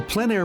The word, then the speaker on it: plein air: This is the Plein Air Podcast with Eric Rhoads, publisher and founder of Plein Air Magazine. In the Plein Air Podcast, we cover the world of outdoor painting.